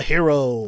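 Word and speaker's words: Hiro: like hir o or ji ro but it's pronounced as no like a hero yeah a hero hero no boo protagonist second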